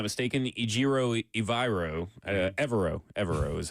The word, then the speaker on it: Evero: Evero is how you say his last name.